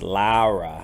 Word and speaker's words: Lara: say her name because there's no you in it so it's not Laura it's Lara Lara ouch it's pretty lame